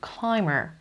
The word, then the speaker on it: climb: is a professional rock climber he goes rock climbing once a week she's pronunciation climb climb namigam climb b is silent here binge silence and gartnest